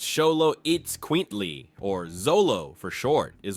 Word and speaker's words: Xoloitzcuintli: The Xoloitzcuintlis, pronounced Xoloitzcuintlis, or Xolo for short, is one of the world's oldest and rarest dog breeds.